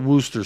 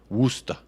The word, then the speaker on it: Worcester: maybe I'll do that literally everyone in England calls it Wooster sauce Wooster woosta Worcester yeah you're right sent